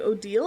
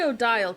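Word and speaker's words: Odile: love how her name is actually said like Odal. Is it really? How do you know this? Who told you it's pronounced Odal? I ain't never heard. That's what the dev said. Uh, odal. Huh? I say Odial cuz I'm a freak and I didn't know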